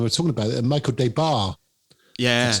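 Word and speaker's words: Des Barres: Michael Debar, that's how you pronounce his name, did the vocals.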